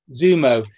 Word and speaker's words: Xumo: Prime, Peacock, Roku, Tubi, and Xumo, however that's pronounced. Zumo. Zumo.